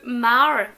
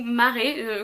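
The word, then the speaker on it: Mare: Red Queen, c'est l'histoire de Mar, ou Maré, comme vous voulez, très étrange à le prononcer en français son prénom, Mar on va dire pour les francophones.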